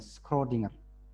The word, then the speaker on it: Schrödinger: Bacanya apa ini? Schrödinger.